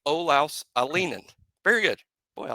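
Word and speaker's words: Olaus Alinen: Olaus Alienen. That is how his folks say his name. Olaus Alienen. Emphasis on the ah, but the middle part is Lee, pronounced Lee Alienen.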